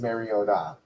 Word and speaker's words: Mariota: somebody told Chris Collinssworth the actual pronunciation of Mariota, which is Mariota.